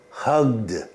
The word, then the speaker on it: hugged: And our final 10 words that are pronounced with the D sound. Hugged, hugged.